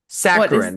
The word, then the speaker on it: saccharine: c c h a r i n e sacarin that's how that's how you pronounce it excessively sweet or sentimental oh got it it's sacarin to me and I don't like yeah you